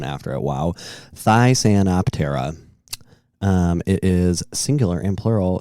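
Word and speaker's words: Thysanoptera: Oh, it had the pronunciation after it. Wow. Thysantoptera.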